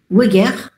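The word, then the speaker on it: Weigert: Ici par la méthode de weger ou bien weger. Euh on prononce weer normalement c'estcrit avec H.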